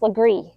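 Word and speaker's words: Legare: you might think like this one for example pronounced lree and this street is pronounced Yuji this street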